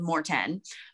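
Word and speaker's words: Maurten: And so it's super neutral, super easy on my stomach, but it's spelled M-A-U-T-R-M-A-U-R-T-E-N, Morton.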